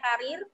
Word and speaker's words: karier: Namira menyampaikan di tabel kata itu yang sudah baku ada 3, ada cedera, ada karier ya tulisannya tapi bacanya karir, dan yang terakhir nasihat.